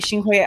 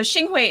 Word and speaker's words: Xinhui: it gets complicated um so xingwei is the the mandarin um spelling for uh pinging for sunway which is the cantonese pronunciation of the same city that baldwin's um father